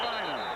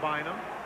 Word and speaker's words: Bynum: How can that be pronounced Bynum? Because that's the way his mother and dad pronounced it.